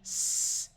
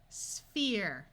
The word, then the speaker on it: sphere: PH has the sound of F, which will be covered in a future lesson. So this word would be sphere, sphere. This is seen.